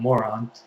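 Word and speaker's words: Morón: in Moron, which is spelled Moron, but of course we don't say it like that.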